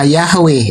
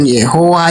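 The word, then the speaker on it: Yahweh: Jadi pengucapan Yodheohe itu pengucapannya yang paling tepat adalah Yahwe bukan Yehua.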